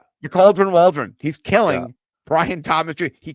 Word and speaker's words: Waldron: His name rhymes with cauldron. Yeah. Yeah. Shane Shane Waldron. Yeah. The Cauldron Waldron.